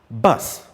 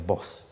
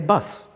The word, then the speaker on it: bus: then we have bus but ordinarily we say please i want to take a boss i want to board a boss he is my boss you see they seem to the way we assume them as same pronunciation but they are not so the first one